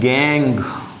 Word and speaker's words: gangue: इट is known as गैंग। देखो spelling थोड़ी सी अलग है इसकी, नाम गैंग है, GANGUE, गैंग।